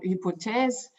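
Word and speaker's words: Hypothèses: it's the blood platform hypotheses it started in france that's why i pronounced it in in french you can also say hypothesis in the german way or hypothesis for the english speaking so um the maxweb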